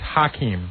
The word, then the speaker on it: Hakeem: American, like Akeem is. What it was is nobody knew how to pronounce it. It's Hakeem. Hakeem.